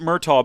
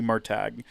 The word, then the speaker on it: Murtagh: It's Murtagh. I've always pronounced it Murtaugh, but the author is like, no, it's supposed to be Murtagh, which is fine.